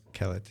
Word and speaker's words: Kellett: And we've been approached just recently by how do you pronounce it? Kellett School? Kellett School? I don't Kellogg, yes. Yeah. Kellogg or Kelly? Kellett, yeah.